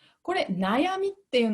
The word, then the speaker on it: 悩み: が軽くなることです例えばです例えば悩みと読みますこれ漢字の読み方